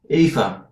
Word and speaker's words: Aoife: That one It's was AOIFE. Aifa. Is that what they say? OIFA or something. Aifa or Yeah. something. Aifa. Aifa. That's how it's supposed to be pronounced.